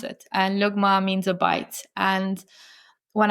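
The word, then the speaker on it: لقمة: So lugma um is the way we pronounce it. And luggma means a bite.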